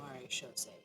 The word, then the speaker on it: Maréchaussée: Yeah, the Maréchaussée is how they pronounce it.